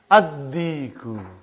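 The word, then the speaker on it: الديك: Ad-Diku. Why you did not pronounce Lam? Because it is sun letter.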